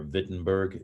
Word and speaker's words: Wittenberg: church in wittenberg germany or wittenberg if we say it with the proper german uh pronunciation and so these were